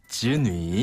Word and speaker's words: 子女: 자녀는 子女. 즈뉘. 네. 자녀 발음을 그대로 살려서 子女. 즈뉘. 네. 이렇게 하면 됩니다.